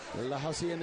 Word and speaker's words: La Hacienda: La Hacienda is the way we do pronounce it here.